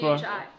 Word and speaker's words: 吃: CHI. In Chinese. Yeah. Chi. Well, we would just say chi.